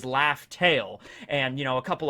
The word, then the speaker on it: Laugh Tale: before in the manga the way that laugh tale was actually supposed to be pronounced and spelled it wasn't raftal it was laugh tale and you know a